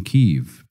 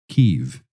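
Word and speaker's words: Kyiv: start a church in keev pronounced keev in 1994 since then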